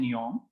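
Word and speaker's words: Nyholm: लिखिए, द VSEPR theory was developed by Gillespie and Neom. अब नियोम में L silent है, ये दोनों साइंटिस्ट का नाम है.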